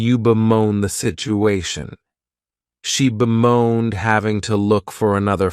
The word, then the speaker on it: bemoan: next verb is to bemoan and this verb has two syllables and the stress is on that second syllable you may also notice